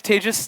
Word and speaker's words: Tejas: all my name is Tagus that's pronounced like contagious disease for those of you